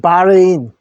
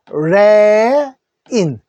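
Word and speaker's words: Bahrain: 같습니다 양곤 자 그다음에 바레인 바 할 때요는 소리 아 소리 하나만 내십시오 아 그래서 바레인 바레인 바레인이 되죠 에 크게 읽어주십시오 바레인 바레인 되고요 수도는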